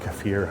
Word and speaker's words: kefir: And it's a drink, or kefir, however you want to pronounce it.